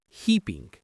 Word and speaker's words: heaping: It's a wonderful word, heaping. He pinging. The stress is on that first syllable, he.